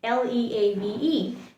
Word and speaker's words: leave: the second one l-e-a-v-e it's pronounced leave leave pay attention i'm i'm putting a lot of pressure i'm stretching l e i'm stretching the sound of l e lee leave try that with me leave this one means when